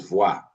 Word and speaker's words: voir: The other one is voir, to see. To see. Just to give you a little bit of contrast. B and what? V. B, V. Boire. That's occlusive. Voir. That's what? Fricative.